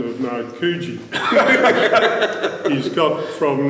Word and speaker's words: Narkoojee: he started to educate him on the correct pronunciation of now kuji he's got from makaji to nakuchi and thanks for that thanks for watching introduction